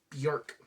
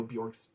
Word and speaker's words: Björk: it next up is bjork i'm sorry bjec rhymes with jack according to her and uh this is